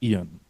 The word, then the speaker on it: Ian: Someone asked me just a while ago um how to pronounce my first name and it's actually Ian.